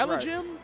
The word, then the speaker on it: elijmin: I think it's elijmin. Chat, hit us with the phonetics. We struggling over here. That's elijmin, elijmin.